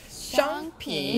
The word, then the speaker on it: 商品: 여기서 商 발음은 혀를 약간 말아서 발음하셔야 돼요. 네, 다시 한번 해볼게요. 商品. 商品.